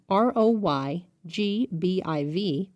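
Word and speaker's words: ROYGBIV: the answer is a red the popular acronym r o y g b i v pronounced roy g biv is an easy way to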